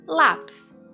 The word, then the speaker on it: lápis: Paroxítonas, sílaba tônica na penúltima posição, por exemplo, lápis.